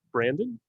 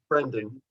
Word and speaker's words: Brendan: His name is Brandon. Brendan, is that how you pronounce it? Brendan.